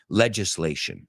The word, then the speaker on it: legislation: Se escribe igual, pero it's legislation.